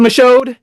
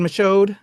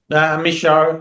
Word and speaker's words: Michôd: Um, David Macho, I can brutalize names. So, it's David Misho. Misho. You don't pronounce the D on the end.